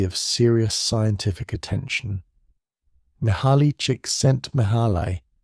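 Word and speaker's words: Csikszentmihalyi: Mahali cheeks sent Mahalai, whose surname is pronounced roughly cheek sent me high, which is itself a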